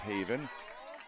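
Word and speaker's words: Haviin: It is Haven. That is spelled H-A-V-I-I-N.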